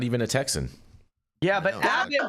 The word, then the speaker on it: Abbott: Yeah, but Abbott rhymes with maggot, so you know.